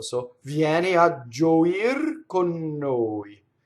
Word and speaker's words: con noi: So it's pronounced like it's one word. Con noi, right?